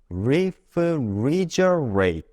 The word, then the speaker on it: refrigerate: 다시 한번 이번엔 조금 더 빠르게 refrigerate.